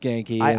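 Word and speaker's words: Ganke: gy all right sucks man cuz I thought gank was cool but gy I guess is cool but yeah it's pronounced Ganky so i' I've been reading it wrong this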